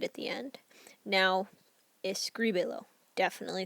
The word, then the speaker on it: escríbelo: So that I is going to get the accent, like so, escríbelo.